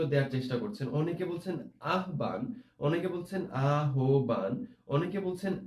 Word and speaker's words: আহ্বান: উচ্চারণ হবে আহ্বান। আমরা যখন এরকম ভাবে হ এবং ব, একটু খেয়াল করো, হ এবং ব এরকম ভাবে যুক্তাক্ষরে দেখতে পাবো, তখন সব সময় সেটার উচ্চারণ হবে ও এবং ভ, এইভাবে আমরা উচ্চারণ করতে হবে।